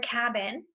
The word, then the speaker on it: cabin: The word cabin. You know that it's a closed syllable because the first syllable, cat, makes the ah sound.